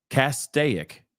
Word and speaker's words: Castaic: cas kic cic I don't know man cic Castaic Castaic Castaic thank you for writing out it out phonetically thank you lady tiger Castaic okay